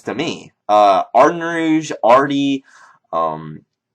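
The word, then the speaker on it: Ardougne: me uh Ard Rouge Arty um ugy even looks correct but it's pronounced Ardo weird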